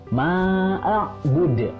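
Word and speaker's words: معبود: Dan yang terakhir adalah bud, dalnya adalah qalqalah. Karena di akhir namanya adalah qalqalah kubro, jadi harus dipantulkan. Ma'bud.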